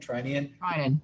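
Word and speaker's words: Treinen: Trinan.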